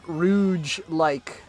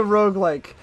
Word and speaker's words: roguelike: a funny haha joke rouge like uh i'm a terrible memer guys i'm a terrible memer trust me i know it's a roguelike i know it's a